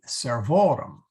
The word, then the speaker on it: servorum: the o is long so the accent now shifts to here the other endings do not affect where the accent goes but the the genitive plural does so uh we go